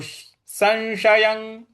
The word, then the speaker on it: संशयं: शंश ऐसे बोलेंगे और य के ऊपर जो अनुस्वार है उसके आगे क लिखा हुआ है तो यहां क ख ग घ अंग का जो अंग है उसका उच्चारण आना चाहिए तो संशयं संशयं तो ये हो